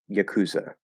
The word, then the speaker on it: yakuza: reason to ignore the ipa uh it's just yakuza yakuza um maybe we'll keep the the ah